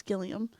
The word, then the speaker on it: Gilliam: 2 by Sam gillium I think I said gallium before so I said it wrong it's gillium which was created in